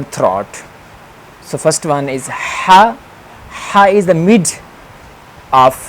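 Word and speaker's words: ح: So first one is ha. Ha is the mid of the throat letter, ha. This will be pronounced when we will enclose our throat, ha, like it has special sound, ha, ha.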